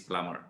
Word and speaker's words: plumber: with the ing form you don't pronounce the b so in english guitar is the silent b so climbing plumbing woken climbing plumbing okay climb bird salah climber plumber salah is plumber okay silently this is